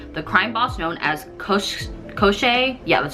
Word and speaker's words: Koschei: And on the other side, the influential Fedorov brothers who serve their father, the crime boss known as Koschei, yeah, that's how you pronounce it, Koschei the Deathless.